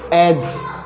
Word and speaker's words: edge: अब पढ़ते हैं हम D के बारे में, D कब साइलेंट रहेगा, G से पहले यदि D आए तो D हमेशा साइलेंट हो जाएगा। जैसे एज, EDGE एज, इस G